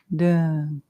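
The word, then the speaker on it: Dön: Dun is spelled D-O with 2 dots, which is called an umlaut. That's why it's D-O-N. Dun.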